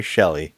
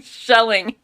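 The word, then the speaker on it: Shelley: the courtroom Mary shelling Shelly oh I'm sorry Mary shelling Shelly I'm sorry Mary Shelly yes he keeps saying shelling who's not yet Mary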